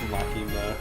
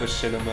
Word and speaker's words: Machinima: I don't think it's pronounced Makima. What is it? Machinima. Machinima.